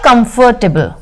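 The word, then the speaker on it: comfortable: इसका एंटोनीम क्या होगा कंफर्टेबल कंफर्टेबल कंफर्टेबल ठीक है कांफरटेबल आपको पता है ना इसमें कंफर्टेबल में आर साइलेंट होता है कंफर्टेबल कांफरटेबल ठीक है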